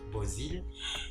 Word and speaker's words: Beauzile: Faut que je dit ça, non pas c'est Bozil. ça s'écrit J''H-O-N, Pamela.